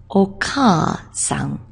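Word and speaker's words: お母さん: The word to remind you is ka because it's oka-san.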